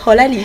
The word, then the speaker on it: Holali: Voilà, Holali, voilà, hein, c'est Holali. Ah, c'est La Holali, prononciation, voilà. Holali. c'est vrai C'est que quelle langue? c'est en mina.